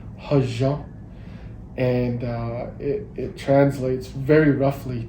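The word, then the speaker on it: hózhǫ́: Yeah, so in our Navajo culture, we have a phrase that is commonly pronounced hajan, and it translates very roughly to balance or finding balance or living in balance.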